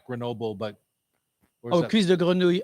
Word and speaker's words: cuisse de grenouille: I had some And how do you pronounce this, Terry? cuisse de Sweet- grenouille. Yes. Say that again, please. Cuisse de grenouille.